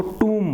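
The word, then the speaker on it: tomb: था आपको toom10 से मैं पहले इसको टॉम बोलता था कि हम हिंदी वाले जो बच्चे होते हैं न हिंदी वाले लोगो हैं वह बहुत सारे शब्दों का अशुद्ध उच्चारण करते हैं प्रदर्शन करते हैं वो कोई बात नहीं जैसे समझ जाए वैसे चलते जाना चाहिए तो इसको तुम बोलते हैं ठीक है तो उसकी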